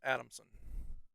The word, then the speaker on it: Adamson: This is Second Lieutenant Donald Bruce Adamson. That one's easy to pronounce because it's just Adam and Son.